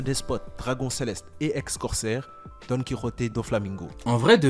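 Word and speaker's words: Donquixote: le retour de Don Quixote. C'est comme ça qu'on le prononce.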